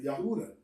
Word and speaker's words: Yahudah: we pronounce my name we pronounce it yahudah judah right so and these are